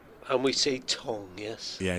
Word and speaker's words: Tongue: and he got um and we see Tong. Yes. Yeah. Josh Tong. Yes. Tong. Okay. Cuz it's spelled tongue, is it not?